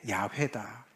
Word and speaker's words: 야훼: 근데 이제 가장 그 정확한 것이 아마 우리가 여호와라고 번역이 된 것인데 그게 야훼다.